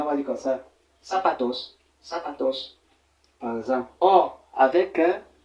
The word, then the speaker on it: zapatos: par exemple voyez ici la prononciation du Z c'est comme le S le S on dira pas zapatos mais on dira plutôt sapatos sapatos ouis là c'est c'est